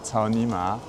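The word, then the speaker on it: 草泥马: Cet animal, l'alpaga, en chinois, ça se dit cao ni ma. Et ça se prononce quasiment de la même manière. Les tons sont un peu différents que cao ni ma, qui veut dire nique ta mère.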